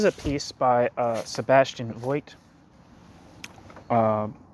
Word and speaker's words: Voigt: yeah fed foled okay Sebastian folk that's how you actually say his name uh where am I